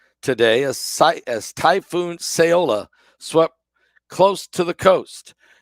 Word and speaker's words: Saola: of flights as the typhoon saola arrives that's how you say it seola it Smashes in to